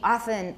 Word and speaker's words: often: And it sounds like oa, right? But make it into one syllable. Oa is two syllables. Ah is one syllable.